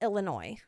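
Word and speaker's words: Illinoise: And by the way, guys, it is spelled out like Illinois. But I've seen that is actually still pronounced Illinois.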